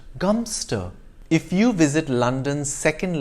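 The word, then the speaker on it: Godmanchester: a place that is spelled god manchester is pronounced gumster if you visit london's second largest garden square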